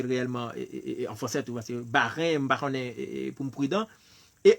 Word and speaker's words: Bahreïn: Par contre, c'est quoi ça prononcer réellement en français, tout, c'est Bahreïn, Bahreïn, pour me prudent.